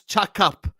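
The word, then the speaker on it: cakap: I know that C is cha as an example. C A K A P pronounce chak.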